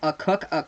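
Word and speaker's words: Akok: It's pronounced Cook, the freshman from Manchester, New Hampshire for the UConn Huskies.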